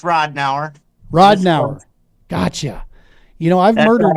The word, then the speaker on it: Ridenour: Mr and let's see if I can pronounce that last name right ridden hour let's see if I'm right did I get it right ridden hour that's close it's Rod now rodau gotcha you know I've murdered right that's everybody's